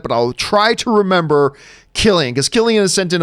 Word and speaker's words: Cillian: Cillian Murphy writes, hey, John, just letting you and Rob know my name is pronounced Killian. Oh, good to know. Killian. Because I always say Cillian.